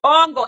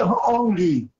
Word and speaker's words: hongi: Con hongo, exactamente, se llama hongo. Aquí lo tengo anotado también, se llama hongo. Dice, se dice hongi. ¿Cómo se dice? Hongi, lo corrigió él mismo.